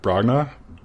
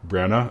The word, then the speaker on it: Branagh: Yeah, so Kenneth, I'm going to say his last name wrong. Bragna? Kenneth I think Bragna? Branagh. Okay, Branagh, yeah, so something like that.